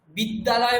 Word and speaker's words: বিদ্যালয়: বিদ্যালয় মানে উচ্চারণ কি হয়? দুটো দকার শোনা যায়।